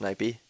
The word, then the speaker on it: Naipe: Naipe, I'm just going to put it on record that it's actually pronounced Naipe. Naipe. You hear that, guys? It's Naipe.